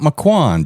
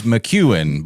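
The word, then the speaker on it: McCuan: It's not Mccoan. Just Just so everybody knows. Block. It is Mchuan, but it is spelled like Mccoan.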